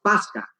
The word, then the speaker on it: pascha: Que se pronuncia específicamente ya en nuestros tiempos pasca, el que a su vez proviene del hebreo pesaj, ¿no?